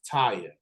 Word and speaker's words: Tayiha: so stay with me y'all her name is Taya she is joining me right now how's it